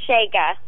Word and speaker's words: Chaga: Shega. Shega, how do you spell that?